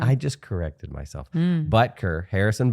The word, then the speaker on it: Butker: Butker, Harrison Butker. I'm going to emphasize the butt part and then I won't get it wrong. Because then I won't say Buckner.